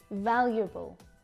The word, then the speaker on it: valuable: Valuable, valuable. Notice this U here when I pronounce this word.